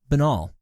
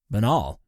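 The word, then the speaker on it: banal: each and every time benol pronounced benol or Bal adjective so lacking in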